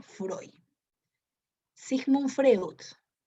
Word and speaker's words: Freud: pero recuerda que se escribe frío y se pronuncia freud si sufre woods o sismo freud es el